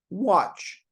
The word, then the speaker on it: watch: O then spelled o but you also have exceptions where you have a or a and u for the exactly the same sound watch watch want want sausage sausage because because